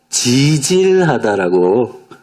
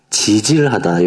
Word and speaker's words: 지질하다: 못한 이야기를 해보도록 하겠습니다 이것을 표준으로는 지질하다 어 하더라고요 그래서 강한 발음이 아니고 그 지질하다 요게 표준 하거든요 그래서 예 그래서 여러분